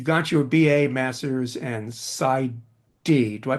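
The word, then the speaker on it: PsyD: You got your BA, master's and SID. Do I pronounce that right? Side.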